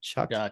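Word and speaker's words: Shough: how Tyler's show is it Chuck was it shock it's pronounced Chuck and I was told that by Texas Tech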